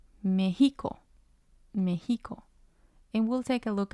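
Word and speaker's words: México: the last syllable well the tide is used when there are exceptions to the rule for example Mexico Mexico without the ti on the E it would sound different it would sound like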